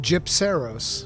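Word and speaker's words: Gypceros: pronounced Gypseros.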